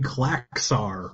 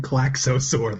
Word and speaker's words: Klaxosaur: People have both been saying Klaxar rather than Klaxosaur this whole show.